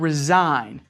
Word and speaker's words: resign: how about the word resign I want to resign from my job resign ar e s I gee it is the silent G sounded in well when you